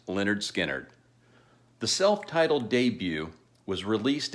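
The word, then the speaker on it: Lynyrd Skynyrd: later to record their Masterpiece debut album titled pronounced Leonard skinnard the self-titled debut was released in August 1972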